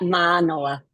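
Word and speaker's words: Mānoa: Today's speaker will be Kirsten Oleson, Associate Professor of Ecological Economics at the University of Hawaii, Manoa, correct? Did I pronounce that No. okay-ish? Yeah, University of Hawaii at Manoa.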